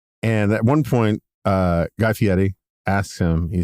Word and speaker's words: Fieri: And at one point, Guy Fieri asks him, he says... Good pronunciation on both Giro and Fieri.